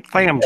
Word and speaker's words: Tham: THAM Tham's World. Yeah, Tham.